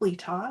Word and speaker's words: Letaw: Letaw. My last name rhymes with seesaw.